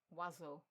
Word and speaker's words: oiseaux: Oiseau, the plural version. This is the longest word in French where you don't pronounce any of the letters réellement.